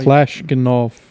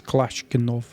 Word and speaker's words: Kalashnikov: Kalashnikov. I think that's how you say it. I'm just trying to say it as best as I can say it. I think it's Kalashnikov.